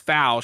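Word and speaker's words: Fouke: it through fou Arkansas it's not it's not spelled like foul it's just spelled FAL yeah and but you the way they pronounce it is fou and that's where they film that movie Legend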